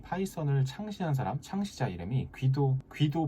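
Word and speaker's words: Guido: 이 파이썬을 창시한 사람, 창시자 이름이 귀도 반 로섬이라는 네덜란드 사람인데요. 네덜란드식 발음으로 하면 휘도라고 하기도 한다네요.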